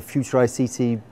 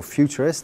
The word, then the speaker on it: FuturICT: the coordination of the future ICT project the future ICC or futurists that's it's both pronunciations work is a large-scale project